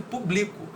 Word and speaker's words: publico: Você percebe que no público a gente faz muito mais força na sílaba pu, né? E na segunda a gente faz mais força na palavra bli, público e publico, entendeu?